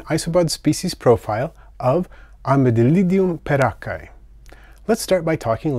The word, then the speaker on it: peraccae: little armored one but many people aren't sure how to pronounce the word perakai and have no idea what it means it turns out that perakka is an italian last name and there was an